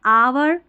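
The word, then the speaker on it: hour: फिर दूसरा है कि एच जो है ना साइलेंट रहता है। जैसे कुछ स्पेलिंग्स में कुछ शब्दों में एच नहीं पढ़ा जाता। विशेषकर ये सारी स्पेलिंग्स हैं। ठीक है? ये सारी स्पेलिंग्स है। याद रखें। यहां पर देखिए ऑनेस्ट। यहां है आवर और इसको आर भी पढ़ सकते हैं। कोई इशू नहीं है। आवर यह है ऑनर। तो यहां पर एच को नहीं पढ़ रहे हैं।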